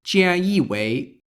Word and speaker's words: 菅义伟: In Chinese, these characters are then read one by one with the Chinese reading.